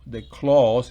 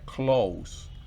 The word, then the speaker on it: clause: Fíjese que encima de la O de clause en la pronunciación hay un punto, no la rayita. Si la rayita estuviera sería close, pero no es sino un punto, entonces clause.